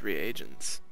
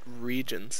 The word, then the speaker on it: reagent: with shoes getting these reagents I used to pronounce it regions actually yep I always